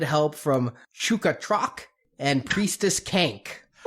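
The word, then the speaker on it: Kaink: Yeah, Kank. I just She wore a hat. That's all I know. rhymes with skank.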